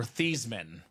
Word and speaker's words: Theismann: The Theismann story. Or Theismann. Proper way to say it.